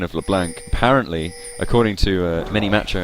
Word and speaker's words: LeBlanc: a problem yeah I've been corrected on my pronunciation of LeBlanc apparently according to Min Macho X it should be lebl without the you know the silent k in